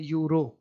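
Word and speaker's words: Euro: जैसे हम कहते हैं यूरो, तो ईरो तो इसको नहीं पढ़ते, लिख तो रहे हैं ई, लेकिन ईरो तो नहीं पढ़ रहे, इसको क्या पढ़ते हैं, यूरो।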